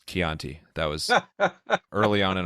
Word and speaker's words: Chianti: That Mystique Marketing, I think, is exactly how my fiance Dana feels when I mispronounced Chianti and it's Chianti.